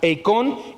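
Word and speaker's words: εἰκών: Es la palabra griega eikon, con K, eikon y con acento en la O.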